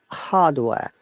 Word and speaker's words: hardware: Hardware. In British English, R is silent. So Hardware, they will say no. They will say hardware, They will say hardware.